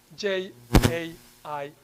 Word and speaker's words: Jain: Jain.